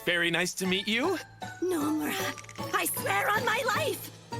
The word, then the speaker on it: Nomura: I'm Nomura. Accent on the no. It's very nice to meet you. Nomura.